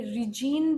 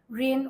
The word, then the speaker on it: reign: रेन of terror, REIGN, ये रिजीन भी होता है लेकिन इसे प्रोनाउंस किया जाता है रेन ऑफ टेरर।